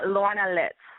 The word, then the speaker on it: Lorna Litz: on the show now am I pronouncing your name right as Lorna litz yeah Lorna litz okay and so that